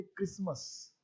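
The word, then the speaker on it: Xmas: लेकिन English grammar के हिसाब से इसको एक्समस नहीं पढ़ना चाहिए। इंग्लिश ग्रामर कहता है ये एक्समस नहीं है, इसका उच्चारण एक्समस नहीं है। इंग्लिश कहता है लिखा तो ऐसा ही रहेगा, लेकिन इसको पढ़ना चाहिए क्रिसमस।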